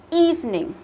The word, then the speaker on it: evening: Từ này thì mình cố gắng là mình chỉ đọc thành hai âm tiết thôi là evening nhá. Đừng có đọc là evening như chưa? Đọc thành ba âm tiết là sai đấy, như chưa?